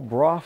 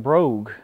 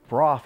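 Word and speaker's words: Brough: This is a 1934 Broff Superior. A lot of people mispronounce it too. They call it Brogue, but Broff is the proper pronunciation.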